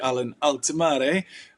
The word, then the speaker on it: Allen-Altimare: I'm on a call with Allen-Altimare, and apparently that's the correct pronunciation.